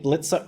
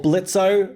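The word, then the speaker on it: Blitzø: Well, I keep saying I keep saying blitzo, you know, because there's the O, but you know, people in the comments always come at me and say the O is silent.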